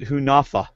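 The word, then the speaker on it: Hunahpu: correctly okay uh but interesting he pronounced it hunafa but anyway so he picked from coyopa Val obviously and from who from hunapa Josh of course which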